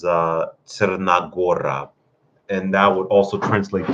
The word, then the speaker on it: Crna Gora: In Serbian language, it would be pronounced as Crna Gora, and that would also translate to the Black Mountains.